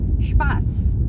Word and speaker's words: Spaß: tapi ini dibacanya bukan B, tapi dibacanya itu S. Jadi ini namanya hurufnya SZ, itu bukan huruf beta ataupun huruf B, tapi dia tuh hurufnya double S. Jadi ada penekanan.